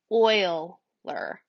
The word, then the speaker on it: Euler: named after a mathematician it looks like the word Euler but it's actually pronounced like oil ler so it's an Euler path and an Euler circuit that might save